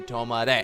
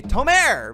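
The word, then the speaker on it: 止まれ: come to a stop you say to all my day and now you'll know how to say it properly and not be an idiot like me and say Tamara because that won't work so now we know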